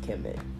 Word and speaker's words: Kemet: to their Homeland as Kemet conventionally pronounced chemit k-e-m-e-t according to um the